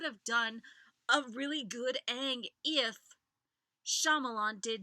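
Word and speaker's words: Aang: did not have to put up with terrible pronunciations seriously Shong it's Ang Ang and so so so that shouldn't be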